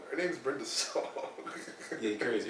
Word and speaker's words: Brenda Song: You know when Mike was on, he said Brenda Long. Her name's Brenda Song.